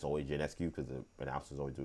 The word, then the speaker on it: Ionescu: people in the media keep calling her Sabrina Ionescu when it's Ionescu. And if you ever watch a game, it's always Ionescu because the announcers always do a good job.